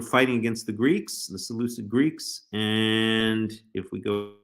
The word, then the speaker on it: Seleucid: Judeans against their Seleucid, I don't call them the Seleucids, but I think it's actually supposed to be pronounced Seleucid. They're Seleucid overlords, right?